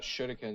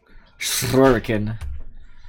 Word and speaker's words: shuriken: I rolled the R, alright, so shut up. Shuriken. Shuriken. It's the Japanese way of pronouncing it.